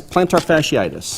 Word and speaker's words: plantar fasciitis: It's plantar fasciitis.